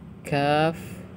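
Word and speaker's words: ك: Untuk membaca huruf-huruf muqatta'at ini, kita membacanya sesuai dengan nama hurufnya, seperti huruf nun, dibaca 'nun' karena namanya adalah nun; Huruf shad dibaca sesuai dengan namanya 'shad'; Huruf kaf juga dibaca sesuai namanya 'kaf', seperti itu.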